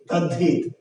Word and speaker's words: তদ্ধিত: আমাদেরকে ধরে নিতে হবে যে দয়ে ধ তদ্ধিত, তদ্ধিত, কিন্তু আমরা উচ্চারণ করছি কি তদ্ধিত ধয়ে ধ।